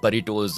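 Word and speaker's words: burritos: पैसे देकर रिचर्ड के बुरिटोस खरीद लेते हैं। और दोस्तों ये बुरिटोस या बरिटोस मतलब इसका प्रोनाउंसिएशन देख लेना आप, मुझे तो मतलब कंफ्यूजिंग हो रहा है इसमें थोड़ा, खैर बुरिटोस ही बोलते हैं ओके।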